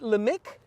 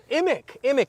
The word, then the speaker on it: Imick: So we have, am I saying it right? Limik? Imic. Oh, I thought it was an L.